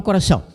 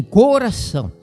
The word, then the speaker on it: coração: muito bonita, só que uma boa parte do pessoal traz uma pronúncia feia, fechada. Fala assim: "Coração, inclusive, cantando hinos e músicas seculares e tal". coração, não é coração.